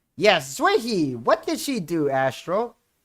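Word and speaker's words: Xueyi: It is Zerhi. I think I pronounced her name correctly. Yi is very, very nice. Zuehi. Yes, Zuehi.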